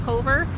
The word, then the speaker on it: Hover: hover this is um some people say hoover but it's actually pronounced hover here for the locals